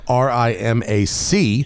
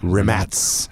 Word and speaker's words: Rimac: heard of them out there is actually spelled RI m Acey yes and you probably think it's pronounced Rimac yeah but it's rim ads ass course known primarily for being sailed off